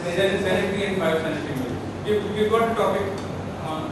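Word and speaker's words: phytosanitary: And biosanitary is spelled as PHYTO, phyto, sanitary, SANITARY, and it is pronounced as biosanitary.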